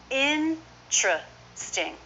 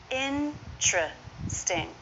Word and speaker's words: interesting: common by far is in truth sting interesting so in doing this they drop the vowel between T and R so now we have a TR cluster this is often pronounced